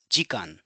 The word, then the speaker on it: 時間: so in this context Gan so we are combining G and K together and making Gan which means number of